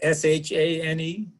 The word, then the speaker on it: Chene: Now, the Shane? Yep. Okay. Mine is Chene, Okay. like the name itself. So similar pronunciation.